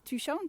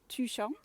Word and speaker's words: Tuchan: the cloud is tucson we know how to pronounce touchon two number two and sean like the sun tuchong um just peeping up